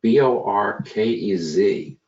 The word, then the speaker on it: Bohoquez: we have my friend Jose orcas and that's pronounced Bo our kez don't be mistaken by the h4u as I've